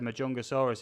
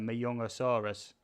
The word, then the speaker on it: Majungasaurus: a thing that said majungasaurus is pronounced uh younger soros possibly is um majungasaurus is uh an african dinosaur i think um you know a lot of languages around the world you know with a j is more of a